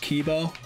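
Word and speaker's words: K1-B0: I have heard about this one this is pronounced Kibo come on wait up let me touch your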